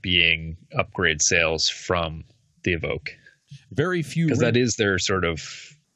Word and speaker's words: Evoque: Is it Evoque or Evoque? I always remind you. It's Evoque. Evoque, thank you. Now, that's actually an impressive